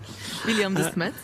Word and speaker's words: William de Smet: Is that how it's pronounced? More or less, yes. William de Smet, yeah, that's correct.